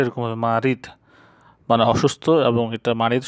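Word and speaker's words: مريض: তো আরেকটা শব্দ আছে মারিদ, মারিদ মানে অসুস্থ, উচ্চারণটা এরকম হবে মারিদ মানে অসুস্থ, এবং এটা মারিদ শব্দটা বেশিরভাগ ক্ষেত্রে ব্যবহৃত হয় যারা বেশি অসুস্থ তাদেরকে বলা হয় মারিদ।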